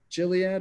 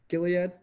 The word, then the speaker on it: Gilead: you say it Dean is it chiliad or Gilead Gil yeah yep Gilead is the biggest position